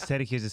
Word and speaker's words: Sergi: Because Sergio's Spanish is Sergi.